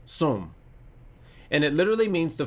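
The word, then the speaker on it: צום: hebrew is som it's about t-s-o-m and it's pronounced soom and it literally means to fast and to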